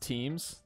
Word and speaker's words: Thames: There's one that's spelled and it's pronounced differently than the way it's spelled. I thought it was that one. What do you think? It's very freeform. It's pronounced Thames, the river Thames.